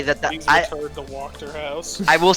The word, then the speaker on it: Wachter: I've been saying it wrong this whole time, it's Wachter.